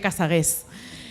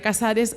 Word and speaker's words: Casares: tenía ese apellido, Casares, cuando llega a Francia, pues asume que nadie va a pronunciar bien su nombre y acaba siendo María Casagués. Pero en realidad siempre fue María Casares, o como le llamaban